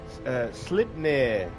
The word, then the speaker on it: Sleipnir: Pronouncing this correctly, Sleipnir, which is Odin's horse, and got 8 legs.